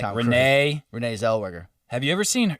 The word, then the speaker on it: Zellweger: Zellweger. I think that's how you pronounce her name.